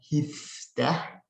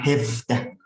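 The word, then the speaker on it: هفده: Hifdah sama hefdah. Bedain bacanya gimana Ustaz? Hefdah itu formal yang ini. hefdah. Tapi kalau informalnya jadi hifdah.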